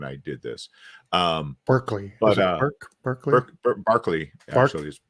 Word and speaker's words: Berkeley: did this um Berkeley Barkley it's pronounced Barkley oh yeah yeah sparkly